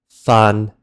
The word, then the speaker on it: fa: So, these two example words written in Ping Ji, faan and fa, both have the long a vowel sound.